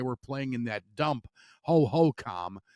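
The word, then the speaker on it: Hohokam: playing in that dump Ho-Ho-Com, and that is how it's pronounced. All the years you've heard Ho-Ho-Cam, it's Ho-Ho-Com, in case you need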